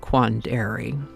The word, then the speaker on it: quandary: Apparently, emphasis used to be placed on the second A, like Quandary.